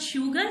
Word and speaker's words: sugar: This word soap and this word sand starts with the S sound, but sugar starts with SH sound.